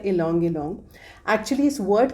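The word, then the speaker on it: ylang-ylang: की इसका नाम है लोंग लोंग वाय से स्टार्ट होती है स्पेलिंग में प्रोनाउंस किया जाता है लोंग लोंग एक्चुअली इस वर्ड का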